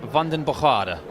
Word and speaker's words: Vandenbogaerde: mario from belgium Mario well what's the correct pronunciation let's get it exactly right well I've been told by my sources it's London bajada I think that's pretty much what he told